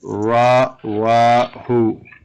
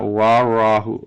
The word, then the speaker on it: رواه: No, not warahu. Rawahu. Rawahu. That's No. Warahu. Yeah, you're putting a wow. Even if you're saying it right, you're still putting a wow sound in the wa, in the ra, and a ra sound in the wow.